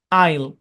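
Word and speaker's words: aisle: আরো কিছু শব্দে এ সাইলেন্ট থাকে, যেন এস্থেটিক, আইল, এই শব্দগুলোতে এ সাইলেন্ট, মনে রাখবেন।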